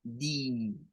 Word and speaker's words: day: Day, su pronunciación normal sería así, con el sonido de una A. Day. Sin embargo, existen algunas personas que la pronuncian con una I corta. Es decir, suena a di, day, di. Son dos pronunciaciones que se pueden hacer cambios al final.